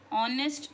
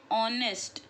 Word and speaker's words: honest: Honest man. Listen to what I am saying. Okay. Pronunciation. Honest. So here we ignore the H sound. We don't say honest. We say honest.